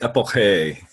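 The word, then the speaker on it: epoché: It's actually pronounced Epoche. It's a German word.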